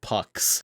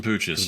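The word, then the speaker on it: Puch: pictures of mopeds some some pucks as I believe is how you're actually supposed to pronounce them some pooches we got corrected on that quite a bit after the PO is wrong it's Pooch there everybody was saying it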